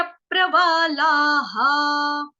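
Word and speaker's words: प्रबलाः: क्योंकि ला, ल के आगे आ की मात्रा लगी है तो विसर्ग का रूल होता है कि जो विसर्ग जहां पे लगता है उससे पहले जैसा उच्चारण होता है, ला तो हा, लू तो हु, ली तो ही, ये विसर्ग का उच्चारण है। ठीक है, तो विषय प्रबलाहा।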